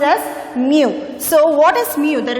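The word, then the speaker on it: μ: letter greek letter mu this is called as mu when we say it is a greek letter when you pronounce it it is pronounced as mu so what is mu the refractive index is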